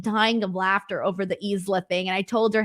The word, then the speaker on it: Isla: And so it was really funny because I was telling her that I was calling her Isla on the show, and she was like dying of laughter over the Isla thing.